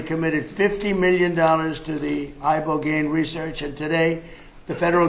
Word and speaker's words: Ibogaine: Ibogaine. Remember the name. Is that pronounced relatively properly, would you say? Yes. I don't want to get it wrong. Ibogaine, because it's so important, and experienced an 80